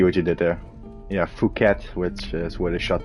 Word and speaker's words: Phuket: Yeah, Phuket, which is where they shot the man with the golden gun, yeah. which you can also mispronounce as fuck it.